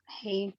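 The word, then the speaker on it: הא: La Ajá, Hei es la H para nosotros. pero la pronunciación, La pronunciación.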